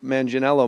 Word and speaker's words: Manganiello: It's Joe Manganiello my whole life. Yeah. And then today you come in, you drop this hard G on me.